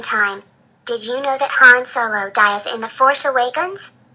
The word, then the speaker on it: Han Solo: did you know that Han Solo die in the force awakens yes kou I knew that but you were pronouncing his name wrong it's Han Solo not her and solo no Clementine it is